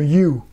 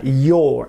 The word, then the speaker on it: your: attention à la prononciation c'est pas comme you c'est bien your avec un o grave et on nentend pas le R pour son ça c'est